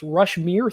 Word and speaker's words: Rushmere: I've been saying it wrong. It's Rushmere 3D.